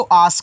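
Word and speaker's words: ask: यहां देखो एक ए से आपको बड़ा वाला आ बनाना है। अब एस के बाद देखो तुरंत के दिया है। तो एस को क्या करोगे? आधा बनाओगे। तो यहां पे आधा सा कहना और के से आपका का हो जाएगा। ये देखो आस्क हो गया।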